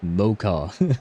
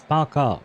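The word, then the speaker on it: Пока: Oh, it's Paka. Yeah, right. It's not an M at all.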